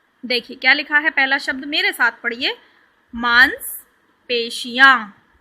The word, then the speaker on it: मांसपेशियाँ: पहला शब्द मेरे साथ पढ़िए, मांसपेशियाँ। श को अच्छे से प्रोनाउंस करना है, स नहीं बोलना है। क्या बोलना है? श। मांसपेशियाँ, मांसपेशियाँ, ठीक है।